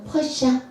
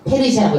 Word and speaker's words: 페르시아: 영어로는 뭐예요? 퍼시아. 네. 우리말로는 이제 그 그리스식 발음으로는 페르시아. 그리스 말로는 뭐예요? 페르시아. 페르시아라고 읽는 거예요. 그러니까 파사 그러면 페르시아 다 똑같은 말이야 이게.